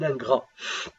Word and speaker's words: ingrat: انت tu es un ingrat. L'ingrat, ingrat. ça s'écrit avec T à la fin.